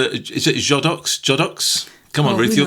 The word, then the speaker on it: Godox: So how do you pronounce is it Jodox? Jodox? Come on, Ruth, you're the queen of pronunciation. Let's just call it Godox. It's Godox, it is, James.